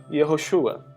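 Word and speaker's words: יהושע: E Josué, no original, se escreve conforme você verifica, e se fala Yehoshua.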